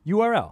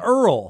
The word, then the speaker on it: URL: here he says an Earl he's weird I'm like that is not the printout you don't pronounce that acronym you say that all the parts of that acronym is I got I